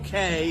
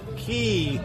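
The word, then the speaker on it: Cay: much great um Coco K is spelled c-a-y the next Island over is Great Stirrup key spelled c-a-y spelled the same different pronunciation do you have any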